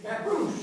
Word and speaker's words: Scappoose: Scappoose.